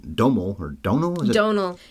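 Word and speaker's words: Domhnall: or Donal is it Donal rhymes with tonal okay right even though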